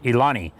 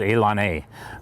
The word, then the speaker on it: ilani: for saying things wrong i initially pronounced elon a as ilani because that's how i thought it sounded and i was lectured by some people far younger than i am that david is pronounced elon a so that's that has